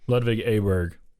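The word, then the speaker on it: Ludvig Åberg: that uh drive around with sans's man so lvic aberer I said it wrong again didn't I no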